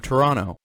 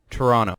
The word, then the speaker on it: Toronto: for their mispronunciation of toronto they pronounced it toronto it's supposed to be a silent second t anyways they only pronounced